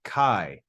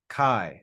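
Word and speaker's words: καί: yeah D thong okay so those two vowels make a diff thong and that's important because that tells us that this even though there are two vowels this is a one syllable word and it's read Kai Kai as one syllable okay then we've got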